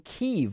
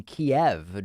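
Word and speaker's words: Kyiv: god it's matt schlopp thanks for correctly pronouncing keeve was watching some eu news and they were still using the old pronunciation kiev drove me nuts love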